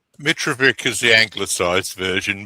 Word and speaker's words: Mitrovic: Mitrovic is the anglicised version. Mitrovic is the ethnic version, but the Australians didn't know how to pronounce it.